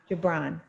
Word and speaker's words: Gibran: blonde okay Gibran Blount yeah Gibran thanks HT chibok Gibran sorry Gibran Japan work is love made visible and if